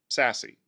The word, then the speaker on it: SASE: category going forward called secure access service edge which is pronounced sassy what is sassy well